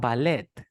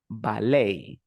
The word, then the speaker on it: ballet: buffet buffet buffet bouquet then you have ballet it's another French word so we say ballet ballet Buffet bouquet campaign you